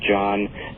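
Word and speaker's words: Jahn: the landmark research of Robert John, and that's spelled J-A-H-N, Robert John, and Brenda Dunn and their colleagues at Princeton University.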